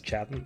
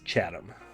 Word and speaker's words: Chatham: own name in the podcast hi i'm wes chapman or chatham or chatham i can't remember either way i'm saying his name wrong so thank you no one for making